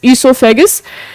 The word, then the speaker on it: oesophagus: Food pipe का जो दूसरा नाम होता है वो होता है बेटा ईसोफेगस, OESOPHAGUS, ईसोफेगस। तो इसमें ओ साइलेंट रखा गया है इसलिए यह ईसोफेगस हो गया।